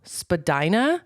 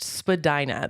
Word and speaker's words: Spadina: Toronto and it's called Spadina but when I first moved there I was like there's no way it's pronounced Spadina that sounds like vagina um so I would